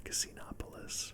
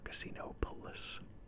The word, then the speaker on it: Casinopolis: terminal says welcome to casinopolis or casino police that's not how you say it the first time was good this is our third